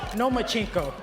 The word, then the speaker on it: Lomachenko: I think you said his name wrong. It's Lomachenko because he doesn't want to fight me.